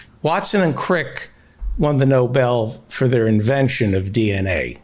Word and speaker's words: Nobel: the uh the the noble prize it's pronounced the noble noble pride the nobel prize right the nobel prize